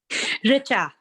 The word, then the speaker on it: Richa: I'm like I please Richa Richa smile like I I always have the confidence that I'm saying it correctly even if I don't I'm like Rich within a not just Rich so obviously now I'm